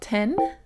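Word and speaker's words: 天: So, this being is called Ten, like TN is like how you would pronounce it.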